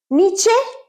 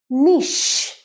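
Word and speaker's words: niche: যুগে খুব সোনা ওয়ার্ড নিচে নিচে না নিশ এটার উচ্চারণ নিশ নিশ মানে কোন একটা স্ট্রং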